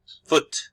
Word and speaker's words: foot: And the pronunciation of foot is with a short U.